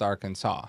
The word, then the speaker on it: Arkansas: being the state that is spelled Arkansas but pronounced Arkansas you I I think you have like a